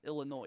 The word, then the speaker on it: Illinois: Let's see, it's Illinois. You do not pronounce the S.